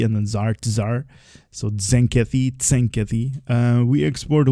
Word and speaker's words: Tzenkethi: And it is pronounced Zenkeathy just like uh Tazar, right? So you have the T and the Zar Tar. So, Zenkeathy Zenkeathy.